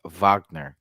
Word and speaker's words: Wagner: weird how you know the NBA commentators they don't say maritz maritz Vagner they say mo but